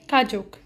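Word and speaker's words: 가족: इफ़ अगर आप नहीं हो सो माई फैमिली को कोरियन में कहते हैं इट्स ने खाजोक। आई जस्ट रिपीट, इट्स ने खाजोक। इसको प्रोनाउंस ऐसे करेंगे, वो अलग पता है कि गा की साउंड है बट इट्स ने खाजोक।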